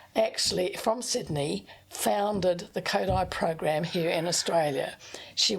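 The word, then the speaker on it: Kodály: And I struggle when I say Kodaly because it's not spelt. For those that don't know, it's Kodaly, and I have to keep on giving myself notes that it's pronounced Kodaly because it's Hungarian, isn't it, Margaret?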